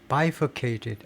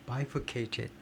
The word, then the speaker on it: bifurcated: 그 다음에 이게 발음이 어떻게 되냐면 bifurcated. 앞 제1음절에 액센트가 있는 것 같아요. bifurcated.